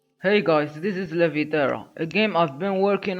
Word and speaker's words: Leviterra: The name comes from Levi, which means levitation, and terra, which means terrain. So the core concept is floating terrain, or floating islands, inside a never-ending universe. The pronunciation also has an Arabic tone, because I wanted the name to feel ancient and timeless.